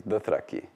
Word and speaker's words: Dothraki: The proper pronunciation of Dothraki is Dothraki, stressed on the first syllable, but the word for dragon, Javorsa, because there's that heavy internal syllable, so it gets penultimate stress.